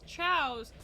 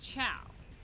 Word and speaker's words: Chao: at the time planet of the chalice because ciaos are spelled chaos but they're pronounced ciao well they're without the s it's ciao plural